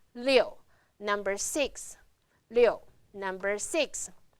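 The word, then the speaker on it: 六: Pronounce liù.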